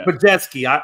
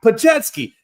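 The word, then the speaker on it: Podziemski: Thank you, Pajetsky. I can never say those names correctly. So it's a tough one. Yeah, Pajetsky.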